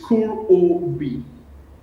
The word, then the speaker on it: Kurobi: Can you break it down like word for word or syllable, for syllable? It's Kurobi, meaning expert in Japanese.